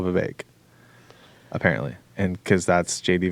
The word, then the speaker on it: Vivek: and he said, Vivek like cake.